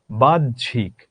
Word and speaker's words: বাহ্যিক: হয়ের সাথে যখন আমরা জফলা যুক্ত করি তখন হয়ের কোনো উচ্চারণ থাকে না। তখন কি হয়? হয়ের আলাদা করে কোনো উচ্চারণ থাকে না, তখন বর্গীয় জ উচ্চারিত হয়।